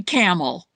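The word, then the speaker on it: Campbell's: I I say camel, like like the cigarette, is is how I pronounce it.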